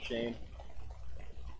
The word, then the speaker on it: Shane: tell us about yourself Shane well obviously my name is Shane rhymes with rain um but uh I